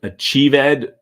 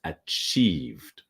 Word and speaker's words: achieved: So again, listen to the past pronunciation of achieved. We achieved. So achieved does not exist. It's achieved, okay?